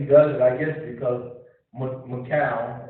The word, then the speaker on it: Michal: it, I guess, because Michal, or you can pronounce that word several ways. It's actually Michael, but Michal, or if you want to be fancy.